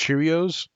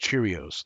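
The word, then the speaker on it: Chiraneau: we go it's pronounced Cheerios that doesn't even make sense Cheerios ch all right everybody's saying it's pronounced Cheerios like Cheerios like the cereal all right um again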